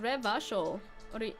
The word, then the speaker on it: Revachol: Revachol is pronounced Revachol.